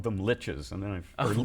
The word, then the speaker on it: liches: You But- know, but when I started there, we called them liches, and then we called them likes, and then we found out they're liches.